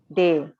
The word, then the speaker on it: te: So te we pronounce it they.